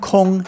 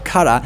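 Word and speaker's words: 空: the character for empty, kong in Chinese, but also pronounced kara in Japanese.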